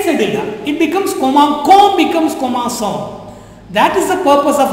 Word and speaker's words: commençons: cédula, this pronunciation becomes commencon, not commençon. Commencon, C-O-N-S, con, not son. Understand? So, to retain the pronunciation of son, we write this cédula.